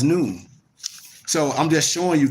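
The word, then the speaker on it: نون: That's why I use the Arabic letter Nun, pronounced as noon.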